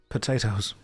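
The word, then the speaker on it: Pot-8-Os: But the way that the name was spelled was P O T O O O which is actually pot 8 O's pronounced potatoes.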